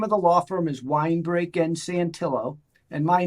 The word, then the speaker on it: Winebrake: so the name of the law firm is wine break and santillo and my name is spelled w-i-n-e-b-r-a-k-e and our and our website is